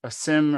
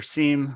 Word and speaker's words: SIEM: Yeah, so my team primarily uses a SIM or SIEM, I've heard it pronounced both ways, called Splunk, which kind of